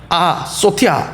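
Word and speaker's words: ἀσωτία: 소티아 이렇게 발음하는데 아는 노라는 뜻입니다.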